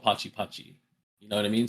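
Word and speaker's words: Pati Pati: And it's called, uh, uh, it's spelled p a t i p a t i. So, I put in parentheses I think like pronounced Pachi Pachi because if you didn't know that, like, oh, it's Potty Potty, but it's not. It's called Pachi Pachi.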